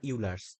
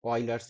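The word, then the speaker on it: Euler: is the Oilers chain rule this is not ERS Oilers is the right pronunciation I guess so let's say oil Oilers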